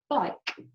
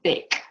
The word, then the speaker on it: bike: So without a silent E, this would say bick. With it, it says bike, okay?